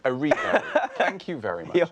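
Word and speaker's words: Cynthia Erivo: He has been cast in Jesus Christ Superstar as Judas against Cynthia, surname I'm going to mispronounce. Erivo. Erivo.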